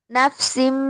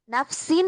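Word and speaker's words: نفس: নাফসিম বিমা, মিম দ্বারা পরিবর্তন করিয়া পড়তে হবে। হ্যাঁ, মিমটাই উচ্চারণ হবে। নাফসিন হইতো, ন উচ্চারণ হইতো, নাফসিন হইতো, কিন্তু মিম আসার কারণে এটা নাফসিম, মিম উচ্চারণ হয়েছে।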